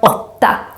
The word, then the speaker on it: åtta: A word with this short version of the o is the word åtta, 8. And here the å becomes short because we have 2 consonants coming after, the 2 t's. That's why it becomes o. 8.